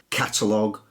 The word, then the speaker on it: catalogue: I did there mmm-hmm words the end gue or L o gue in those cases the U is silent and it hardens the G so colleague lead tongue catalogue dialog analog and indeed epilogue so the first group